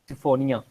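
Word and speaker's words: Polysiphonia: पॉलीसाइफोनिया, SYPHONIA, सिफोनिया भी बोलते हैं इसको।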